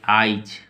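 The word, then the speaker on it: eyes: ई वा ई सस आइज इसको कैसे लिखेंगे ई से ई वाई ई एस इसका उच्चारण होगा आइज इसको हम लोग ऐसे उच्चारण करेंगे आइज ठीक है ई से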